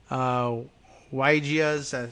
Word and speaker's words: Weijia: It's a Cajun last name, another CBS reporter who includes video, I guess, of Weijia's, how does she pronounce that?